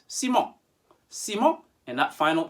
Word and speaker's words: Siemens: one count to five remember the sound of en in french is on so from an english-speaking background you might be tempted to say en le si me siemens he may even pronounce